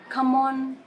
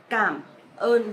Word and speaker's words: cảm ơn: In Vietnamese, you pronounce a bit stronger, heavy and clear, more clear, just like cảm ơn. Because some of my foreigners friend, they pronounce come on or come on, but actually it's cảm ơn, just like K. So you pronounce stronger and clearer. Cảm ơn instead of come on.